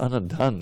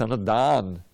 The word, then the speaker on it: dana: It's not Anna Dhan. It's Anna Dan. You understand? D-A with a long A means gift, but they have Anna Dhan.